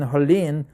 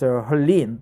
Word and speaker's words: Helene: By the way, the pronunciation is Helene, not Helen. Koreans pronounce it Helen, and Chinese and Japanese also Helen, but Helene is the English American pronunciation of the name, person's name. Most of they stocked up on water and groceries.